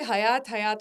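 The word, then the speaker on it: Hyatt: तो एक और बहुत मिसप्रोनाउंस्ड है, हायत। ठीक है, सब उसे हयात होटल बुलाते हैं, इट्स एक्चुअली हायत, एंड ये भी लोगों को नहीं पता है।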